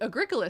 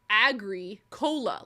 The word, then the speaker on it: Agricola: But it's spelled like agri-cola, like agriculture and Coca-Cola, agri-cola. And so we were calling it agricola. I mean, and then we met someone and they just said Agricola.